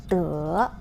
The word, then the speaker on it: 德: The Chinese pronunciation of this word is 德.